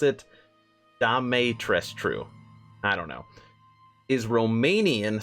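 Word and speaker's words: Dimitrescu: up i'm pretty sure that's how you pronounce pronounce it damay tres true i don't know is romanian surname further leaning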